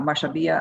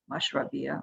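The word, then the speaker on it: mashrabiya: with a beautiful mashuriba a mashabia on the outside of it mashravia sorry i get that name wrong all the time uh but all made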